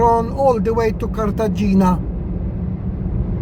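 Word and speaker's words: Cartagena: all the way to Kartagena or Kartahena how they say it.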